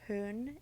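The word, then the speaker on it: Hoehn: in wright haven versus hohen or hoon if it's a german pronunciation that the posting of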